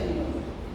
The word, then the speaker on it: Müller: Se pronuncia Müller.